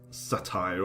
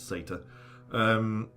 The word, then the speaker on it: satyr: And from its position right in front of us, this particular satyr, or satire, or however you want to pronounce it, I pronounce it satyr, can score a hit